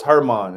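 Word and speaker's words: Germán: Especially what happened to German. So, am I saying his name right? yeah, German. Yeah, okay. And then It's Herman. It's Herman. Herman.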